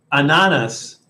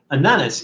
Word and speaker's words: ananas: Ananas, like bananas without the B in front of it.